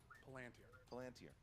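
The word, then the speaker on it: Palantír: which character cannot resist the temptation to look into the Palantir? Palantir. 2 points. I'm literally only here to correct his pronunciation.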